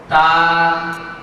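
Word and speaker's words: ت: আপনারা মনোযোগের সাথে আমাকে ফলো করুন, লক্ষ্য করুন আমি কিভাবে এই হরফটি উচ্চারণ করছি। তা তা তা।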